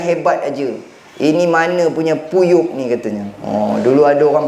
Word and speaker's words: PU Yeop: Haji sebut puyuk kan? Tulis dekat sini P-U-Y-E-O-P, puyuk. Bukan macam tu bacanya haji, dia kena berhenti P-U-Yuk.